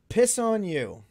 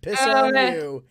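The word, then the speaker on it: Pisoneu: Piss on you.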